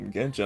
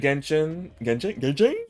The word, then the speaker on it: Genshin: like Genshin. Got a whole playlist. I forgot how many like VODs of Genshin I got up there.